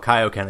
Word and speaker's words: Kaioken: in Kai it's called Kaioken again because Kaio Ken is the way it's supposed to be because they are the kais they are not the K exactly so they went from